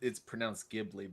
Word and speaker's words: Ghibli: Well, it's pronounced Ghibli, but okay.